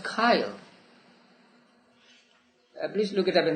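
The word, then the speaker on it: chyle: c-h-y-l-e how do you it is pronounced kyle please look it up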